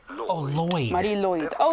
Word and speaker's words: Mari Lwyd: In Welsh, this is said as Mari Lwyd. Lwyd. Oh, Lwyd.